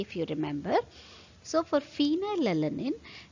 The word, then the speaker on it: phenylalanine: you remember so for phenylalanine its pronunciation it is far right phenylalanine so it sounds far hence f is the